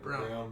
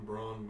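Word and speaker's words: Braun: to say about it brown brown it's spelled Brawn but whatever you know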